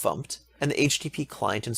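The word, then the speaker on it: fmt: in the standard library the formatting package which is pronounced pumped and the HTTP client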